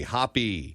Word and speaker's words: Hoppe: that's incorrect right it's it's pronounced as if you saw the word spelled that way but it's with an E hoppy yes and the hoppy